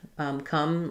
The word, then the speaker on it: come: I might write it with a U for the sound. But if you're familiar with how to pronounce C-O-M-E, the word to come, then it's going to be the same.